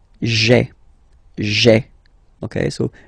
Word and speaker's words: j'ai: Okay, so just to avoid pronouncing this je ai, because we think that in French it doesn't sound that beautiful, so we tend to take this e away, okay, so that you get this sound j'ai, j'ai.